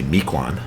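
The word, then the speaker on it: Mequon: Mecoin. Yep. Um or we say Mikuan. Mikuan. Is that the pronunciation?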